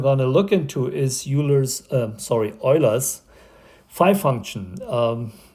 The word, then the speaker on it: Euler: That's how you say it, in where Euler comes from a German-speaking area, and you pronounce what you say normally Euler. Here in the US, it's actually Euler.